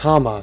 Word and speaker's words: Hauma: honestly i don't want to know so it's pronounced hammer that's what he said that's what we'll call